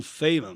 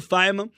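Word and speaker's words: Feynman: sem falar de Richard fiman tá algumas pessoas pronunciam fean mas a Richard de faiman é um grande Pensador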